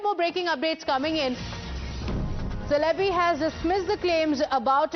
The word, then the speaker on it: Çelebi: This is the statement that has come in from Celebi, in Turkish pronounced as Celebi, I'm told.